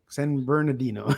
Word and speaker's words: San Bernardino: San Bernardino. There you go. You left the whole syllable out. It's syllable though.